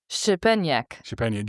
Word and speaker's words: Szczepaniak: The way to pronounce his name is Shepeniak.